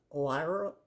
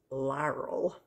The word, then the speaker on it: Lierl: I believe it's pronounced Lierl. I'm not going to be able to say it. I believe it's pronounced Lierl. It's L-I-E-R-L.